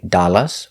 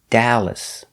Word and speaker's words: Dallas: name of the city dallas texas we make the sound a like apple we don't say dallas or dallas it's da dallas i'm from dallas texas dallas